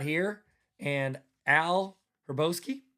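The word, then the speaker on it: Hrabosky: and Al Herboski. Herboski Raboski probably Roboski H is silent.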